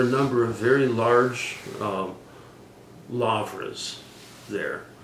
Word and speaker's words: lavra: number of very large lavras there. A lavra means a big, L-A-U-R-A in the Greek pronunciation, means big monastery, essentially.